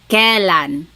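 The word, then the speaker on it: kailan: Then the word kan when you might hear some people say kalan sounds like an e but it's technically spelled with an a i.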